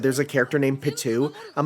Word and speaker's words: Pitou: She was wearing the outfit of Pitou from Hunter x Hunter with dual disc, which is pretty cool, pretty fun.